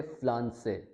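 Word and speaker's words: Pflanze: अब यहाँ पे फ्लांसे, पी का साउंड थोड़ा सा ऐड करना है हमने, फ्लांसे।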